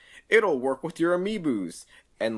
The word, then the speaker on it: amiibo: I was really disappointed with the Skyrim Switch, how it was like, it'll work with your amiibos.